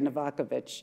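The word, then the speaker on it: Novaković: It's actually Novakovic. Oh, really? In Serbo-Croatian. So how many people pronounce it correctly?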